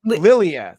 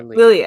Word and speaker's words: Lilia: It's spelled weird. It's Ileana, right? It's Lilia. Lilia. Thank you. Lilia.